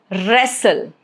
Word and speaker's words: wrestle: Letter W, silent if it comes before letter R at the beginning of a word. Example, wrong, rap, right, wrist, wrestle.